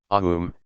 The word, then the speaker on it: Aum: Om, Aum, is such a sound, the basis of all sounds.